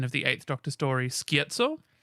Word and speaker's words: Scherzo: A lot of people were expecting a adaptation of the 8th Doctor story, Scherzo, which is how it's pronounced, guys.